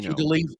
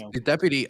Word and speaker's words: Bongino: Then after Do you mean promising the Patel or raw footage, he Bongino?